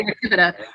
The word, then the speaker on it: Ratibida: I like to say Ratibida. Of course, with Latin, you can pronounce it however you want, but Sure. Ratibida seems to flow off the tongue.